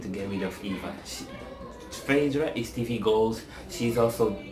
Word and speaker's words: Phaedra: Phaedra Parks needs to be brought back.